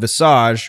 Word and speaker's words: Visage: it was Jareth's is the Americanization of it. I said that Visage. you could also pronounce it. Yeah, Oh, so okay. Mike and I were going in more the traditional French sense of the word.